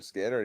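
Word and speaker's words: Skynyrd: He gave Skynard's album a Skard pronounced Skinner.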